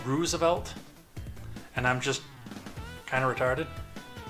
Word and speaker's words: Roosevelt: he used to tell me all the time how to pronounce Roosevelt I use the oh sound like roof which that could be misleading from text because my ex-girlfriend would say roof so I don't